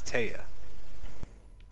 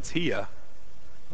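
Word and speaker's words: Teah: That's a weird way of spelling Tia. How's it spelled? T-I-A? No, it's spelled T-E-A-H. It sounds like somebody wanted to spell the. But they mistyped.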